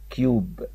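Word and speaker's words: cube: اللي فاتت كده لا لما حطيت اي في الاخر بقى اسمها كيوب كيوب كيوب معناها مكعب واي الاخيره لا تنطق الا الاخيره ما بتنش بس كل دورها انها تخليلي اليو يو تخليلي حرف اليو يبقى منطوق يو فالكلمه اسمها كيوب حد يعرف يخمن معايا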